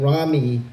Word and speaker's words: Ramy: Now, Ramy always wants me to let you know that his name Ramy rhymes with sexy.